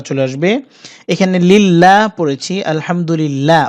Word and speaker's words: আলহামদুলিল্লাহ: আসবে এখানে লিল্লাহ পড়েছি আলহামদুলিল্লাহ অর্থাৎ আল্লাহ শব্দ বারিক হয়েছে অর্থাৎ পাতলা করে উচ্চারণ করতে হয়েছে এখানে না বলতে হবে